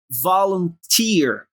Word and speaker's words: volunteer: Volunteer. Quando você vê dois E seguidos em inglês, ele tem um som de um I bem forte. Tear. Volunteer.